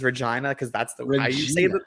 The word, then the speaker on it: Regina: way that he says Regina because that's the reason that's how you say it it's Regina you know if